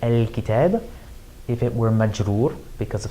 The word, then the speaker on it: الكتابِ: So if we were talking about a definite noun like al-kitab, if it were majroor because of something that happened in the sentence, it would have one kasra on it.